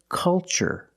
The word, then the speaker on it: culture: ch the first word culture and the second word cultural also remember the first syllable is a short u like cup and up uhuh make a relaxed sound C culture and cultural Let's test